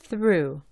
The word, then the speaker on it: through: Fíjate que la G y la H son mudas. Se pronuncia through.